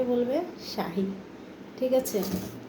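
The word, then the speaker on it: شاي: বলবে জিবি শাহী ওকে তো চা আরবি উচ্চারণ হচ্ছে শাহী ঠিক আছে তো আমরা অবশ্যই বুঝতে পারলাম ভালো করে চা আরবির উচ্চারণ হচ্ছে শাহি ওকে আর ওরা কিভাবে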